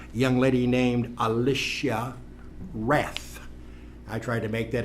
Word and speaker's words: Rath: front office manager, a young lady named Alicia Rath. I tried to make that a W-R-A-T-H. She reminded me that the W is silent. Although to know a Rath, you would think it was a W.